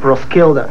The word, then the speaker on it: Roskilde: Como é que é a pronúncia aí, mano? Roskilde.